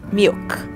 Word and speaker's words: milk: Você não pronuncia milk, não é milk, não tem um i no final, não tem y no final, então é um K sem vogal nenhuma, então é o K seco, milk, milk.